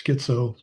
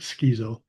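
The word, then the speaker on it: schizoaffective: A lot of people think it's schizo but it's actually correct cor correctly pronounced it skezo schizoeffective disorder uh which has is schizophrenia with bipolar.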